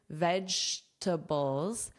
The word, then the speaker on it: vegetables: Notice that pronunciation, vegetables, vegetables. Vegetables, short form is veggies.